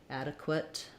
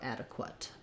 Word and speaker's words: adequate: look at adequate um here we have the ah vowel instead of the e and then again the schwa um this time qu does say qua adequate and we use a schwa there so uh duh quit